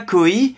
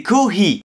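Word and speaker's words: コーヒー: コーヒ Alors attention, il faut bien prononcer le H. C'est pas koi, c'est kohi.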